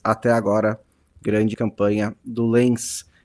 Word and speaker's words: Lens: grande campanha do Lens, que eu sempre falo Lens, né? Está, acho que provavelmente está pronunciando corretamente, mas aí também eu penso sempre no Felipe Lan, né? Falar o Lã comprou, o que que o Lã tá fazendo aqui? né? Porque ele tá pronunciando de um jeito provavelmente mais correto do que eu.